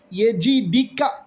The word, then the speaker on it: يجدك: അലം യജിദ്ക. യജിദ്ക അവിടെ പ്രത്യേകം ശ്രദ്ധിക്കണം, തെറ്റാനുള്ള സാധ്യതയുണ്ട്. കാരണം ഇവിടെ ജീം എന്ന അക്ഷരത്തിന് കസറാണ്, ദാൽ എന്ന അക്ഷരത്തിന് സുക്കൂൻ ആണ്.